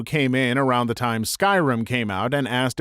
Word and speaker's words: Skyrim: said Oh you mean Skyrim he laughed condescendingly and said no I mean scrim thinking he was just mistaken I was like oh no it's called Skyrim no it's not it's pronounced scrim at that point I